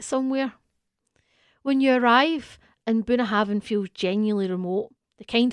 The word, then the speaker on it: Bunnahabhain: And then we went to Bunnahabhain, pronounced approximately Bunnahabhain, on the very northeastern tip of the island.